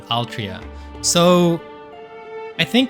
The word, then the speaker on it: Altria: how they pronounced uh sounds cuz Altria would be Aru Toria but written in English it's Altria which just sounds weird.